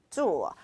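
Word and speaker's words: 座: 역시나 발음은 주어, 좌석이라는 의미를 가지고 있는데요.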